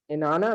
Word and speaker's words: Inanna: Ma'am, it's Inanna, right? Yes. Good. Inanna of Inanna.